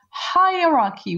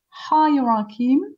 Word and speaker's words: hierarchy: Hierarchy. We are going to listen to this word. Hierarchy. 1 second. It's a little difficult to pronounce. Hierarchy. You see, hierarchy. This is British English.